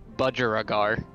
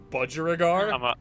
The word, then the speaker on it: budgerigar: just a minute now uh the the correct pronunciation is budgerigar budgerigar I'm a budget sound right there we go